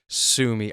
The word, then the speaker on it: Sumi: Now over to the Switch 1 emulator, and we're looking at an emulator, and yes, this is the name, Sumi. That is how you pronounce it, Sumi.